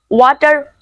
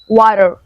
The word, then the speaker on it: water: is that always remember whenever you find a t in the middle of the two vowels then just pronounce it like d whenever you see the